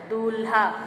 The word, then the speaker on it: दूल्हा: दूल्हा, दूल्हा आपका गलत उच्चारण है, दूल्हा आपका गलत उच्चारण, शुद्ध इसका है दूल्हा, बड़ा उ की मात्रा का प्रयोग होगा।